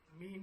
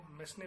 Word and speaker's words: mesne: Discuss new important topic, मीन profit. मीन profit जिसकी spelling है MESNE. इसका pronunciation होगा मीन प्रॉफिट. कुछ लोग उसको मेसने प्रॉफिट भी बोलते हैं, पर इट is wrong. It is called मीन profit.